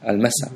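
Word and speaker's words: المساء: evening if you noticed i did pronounce the lamb here because it doesn't it doesn't make any uh difficulty to to pronounce the word al-massa so in the evening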